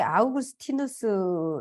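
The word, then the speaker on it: Augustinus: 더 살펴보도록 하겠습니다 히포의 아우구스티누스 이브는 이제 라틴어로 아우구스티누스고요 저도 좀 많이 헷갈려 가지고 어거스틴이라는 말도 있고 또 아우구스티누스도 있고 그래서 찾아보니까 세인트 어거스틴은 영어식 발음이고 아우구스티누스는 라틴어 발음이더라구요 그래서 아 이것을 헷갈리지 말아야겠다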